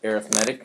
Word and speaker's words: arithmetic: is a noun okay when we use this word as an adjective because it describes the sequence or describes the series we say arithmetic okay so here's the